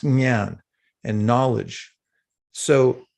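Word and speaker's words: jnana: gyan which is uh spelled with j-n-a-n-a nyan it's pronounced nyan and knowledge so it's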